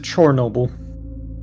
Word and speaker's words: Chornobyl: The Ukrainians pronounce it Chornobyl.